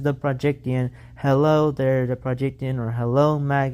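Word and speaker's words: The Projecttian: It is pronounced the Projectian. It is not the projection.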